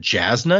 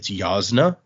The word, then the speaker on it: Yasna: There's a person whose name is I've always said Jasna because it begins with a J, but the J is actually supposed to make like a ya sound, so it's Yasna.